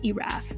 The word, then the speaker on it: Erath: willamette valley was dick iraf and just an aside here in case you're curious that's spelled e-r-a-t-h kind of like earth just moved that r up a little bit earlier so within the oregon